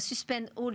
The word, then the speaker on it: Suspend All: Suspend All, je le prononce bien, c'est on suspend tout, c'est ça? Exactement. On suspend la dalle en français et on suspend tout en anglais.